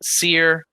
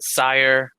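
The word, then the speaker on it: Cyre: however you want but i've heard it pronounced seer most often uh and yeah this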